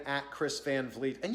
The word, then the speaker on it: Van Vliet: my name at chris van vleet and yes that's how you pronounce it chris van vliet i know it looks like van vliet or van vliet or van violet or van vlatt or whatever you want